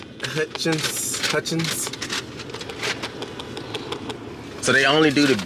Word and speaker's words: Hutchins: But this Hutchinson barbecue, am I pronouncing it right? Hutchins. This Hutchins barbecue.